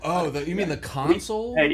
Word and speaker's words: console: pet peeves, by the way, is when people mispronounce boat parts. Like like councils. You gota you gota You got to get under the council. Oh. Oh, the You mean the console?